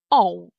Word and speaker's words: ą: Эносове и оносове, вот, произношение начинается с гласных э, да, и о, соответственно, и чуть позже у нас появляется носовой призвук н.